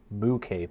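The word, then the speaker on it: MUCAPE: U moo cape, which is spelled mu and then cape.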